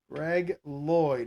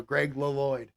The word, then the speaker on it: Greg Lloyd: who gets the sack 46 it's Greg Lloyd Greg Lloyd or as they pronounced it on an episode of Alf many back in the day many years ago Greg lyd all right that's gonna be a 30 second